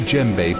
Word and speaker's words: djembe: According to legend, this very djembe belonged to a learned drummer from Senegal who can speak with the dead by rhythmically beating it. The D is silent.